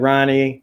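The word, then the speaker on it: Rahne: So you had Ronnie, or Rain, however you want to pronounce it. They pronounce it Rain in this. I always said Ronnie, but I guess the H is silent.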